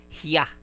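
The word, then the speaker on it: ひゃ: Okay we also have he and ya small ya. It will be pronounced as hya.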